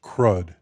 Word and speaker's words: CRUD: delete this scatalogical acronym is intended to be pronounced crud these four functions translate